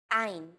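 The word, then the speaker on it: עין: 3 of these letters are pronounced deep in the throat. These may feel unusual at first, but are fun to say once you get the hang of them. Ein, chet, resh.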